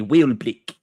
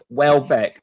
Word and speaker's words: Welbeck: Or as my cousin calls him, Danny Wheelblick, because he can't fucking pronounce it properly. It's like fucking idiot. So I have to listen to my cousin say that wrong for the last 16 years.